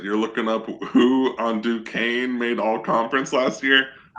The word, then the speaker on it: Duquesne: Duquesne, which I just learned today is not pronounced Duquesne, at Florida State.